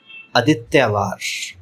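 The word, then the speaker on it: आदित्यवार: پہلا لفظ ہے اتوار۔ یہ لفظ سنسکرت زبان کا ہے اور سنسکرت میں اس کا تلفظ ہے آدتیوار۔ دوسرا لفظ ہے بالٹی۔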